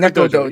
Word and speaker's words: Neko Dojo: So, how Yeah, do you pronounce proprietor. it? Neko Dojo? Nico Neko Dojo? Dojo. Neko Neko Dojo.